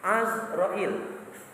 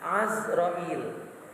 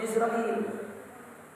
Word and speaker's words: Azrail: Izrail nah Izrail itu ada dua cara membacanya sebenarnya paling pas azrail bifathil Ain jadi kata Say Nawawi Al bantan Izrail itu yang paling pas azrail cuma kitaah biasa nyebut Izrail ya sama kayak nama